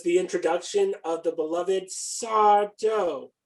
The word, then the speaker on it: Sardo: introduction of the beloved sarto no mr accent on the dough and this involved a